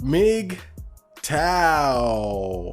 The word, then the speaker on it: MGTOW: as you can see today's episode is called mig tao all i did was change the way that it's spelled but yeah it's big tile so i